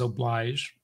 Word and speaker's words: oblige: The logic of noblesse oblige, he says oblige.